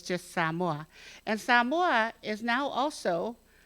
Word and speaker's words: Samoa: And so tonight we're going to talk about, and by the way, how you pronounce my country, it's not Samoa, it's Samoa.